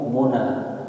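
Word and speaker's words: مُنى: harapan agak berupaya bekerja cara bacanya didomahkan huruf mimnya jadi mu Muna ya jam Mun ini adalah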